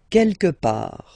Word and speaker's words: quelque part: Quelque part. Don't pronounce the final T.